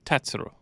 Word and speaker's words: Tatsuro: tatsuro Tyra or Frank tell me how to pronounce his name correctly you you corrected me earlier no I corrected you but it's tatsuro tatsuro yep tatsuro tat yeah Tyra um you